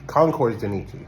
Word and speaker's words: Concours de Nice: to this, I don't even know how to pronounce it. Concours De Nice. Concours De Nice.